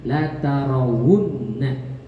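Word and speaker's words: لَتَرَوُنَّ: Akhirnya waw dikasihlah baris. Jadi alif itu lebih cocok dikasih baris fathah, ya lebih pantas dikasih baris kasrah, waw itu lebih pantas dikasih baris dhammah. Maka dikasihlah dhammah jadinya la tarawunna.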